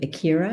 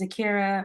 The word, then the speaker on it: Ikera: And I'll pass it to Ikera. Am I pronouncing that right? Yes, you are. Thank you. Hi, my name's Ikera.